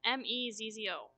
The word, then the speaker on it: Mezzo: It's Mezzo. Yeah, it's pronounced mezzo. I think it's Italian.